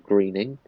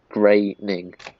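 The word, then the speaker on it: Groening: of others relax Mr Greening you still have created by credit it's graining Matt graining correct the pronunciation of his name I'm happy to give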